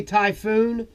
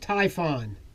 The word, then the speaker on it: Typhon: the old cryptech Typhon some people say typhoon but it's actually pronounced Typhon this is the old